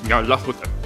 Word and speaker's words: Nyarlathotep: The closest pronunciation I've been able to find is Nyarlathotep.